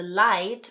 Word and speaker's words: Leid: One, that the 'd' at the end is making a 't' sound (light). Okay? And that the 'ei' when they're together like this, says, 'i' like the eye on your face.